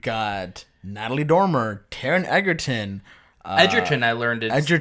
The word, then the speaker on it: Edgerton: I go a day you people pronounce my name Edgerton it's actually Edgerton I'm like okay I